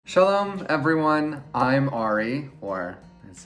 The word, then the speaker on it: Ari: I'm Ari, or as it's actually pronounced, Ari.